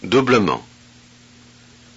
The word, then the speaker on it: doublement: Thus, to avoid having three speech consonants in a row, the vowel E must be pronounced. Look and listen. doublement, parsemé, vastement, Oh, okay.